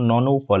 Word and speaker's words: nonuple: বলতে এই যে সিঙ্গল ডাবল ট্রিপল এখানে দেখুন ননপল এখানে বাংলাও লেখা আছে ননপল দেখুন একই সংখ্যা যদি নয়টা হয় তখন আপনি ইংরেজিতে বলবেন নন উপপাল ওয়ান।